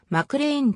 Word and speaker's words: McClean: 所属ポジションは mf ばクリーンとも表記されるがマクレインと発音される 2013 年 8